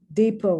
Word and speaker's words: depot: tea is not pronounced depo once again french the t is not pronounced debut once again friends